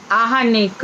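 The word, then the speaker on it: आह्निक: आहनी होता है ना, आहनी माने दिन होता है ना जी, तो हर दिन दैनिक कृत्य है ये आहनिक। अच्छा, बहुत लोग गलत बोलते हैं, कई सारे उच्चारण इतने गलत चल रहे हैं ना।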